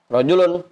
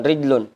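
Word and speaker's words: رجل: Rajulun, Pasarip bacanya, bukan rijlun. Kalau rijlun jadi kaki.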